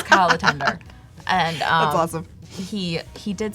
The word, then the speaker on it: Latonder: And his last name looks like Latondra. Like, it looks like it should be super fancy. He goes, no, it rhymes with chicken tender. So it's Kyle Latender.